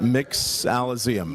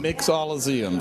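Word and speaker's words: Mixalum: do we pronounce that mix Alum mix Alum so it's a Mixology combined with Museum again we're building a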